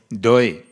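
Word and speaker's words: দই: So it was a time for dahi, or dahi. How do you say in Bengali? Dahi. Dahi. Dahi? Doi, yes.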